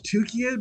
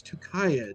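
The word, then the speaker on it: Tukayyid: I always thought it was tukied, but apparently it's tukayad. So, who knew tucked?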